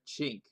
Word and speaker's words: cinque: See, this is how I learned chink. But if it's French, see, I learned the Italian pronunciation for this word, which is chink. But in French, which is where Don is from, it's sank. Apparently.